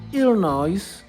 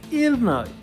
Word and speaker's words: Illinois: So the translator by then who who translated that movie was Vij Jun and he called it ill noise.